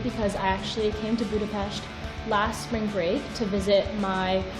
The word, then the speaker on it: Budapest: She was also the first person who told me that Budapest is pronounced Budapest.